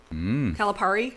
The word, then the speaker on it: Calipari: we've got a signed basketball from John Calipari Calipari it's Calipari Cal Perry Oh I said it right the first time